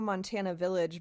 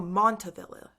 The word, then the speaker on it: Montavilla: Southeast is kind of hit or miss, so I don't know Montana Village, but Southeast is more industrial. Oh, Montavilla. Montavilla. Sorry, I said that wrong.